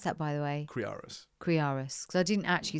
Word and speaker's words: Kriaras: I remember people put a V in there sometimes.